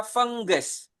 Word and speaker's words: fungus: Nah, begitu juga dengan ini tulisannya fungus tapi dibacanya fengges.